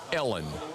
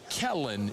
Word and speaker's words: Kellen: Um, first of all, she's so detached she called the head coach Ellen in the introductory press conference. Ellen Moore. Ellen Moore. Not Kellen. She mispronounced the man's name.